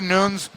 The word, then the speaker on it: Nunes: Amanda Nunes, current champion of the world.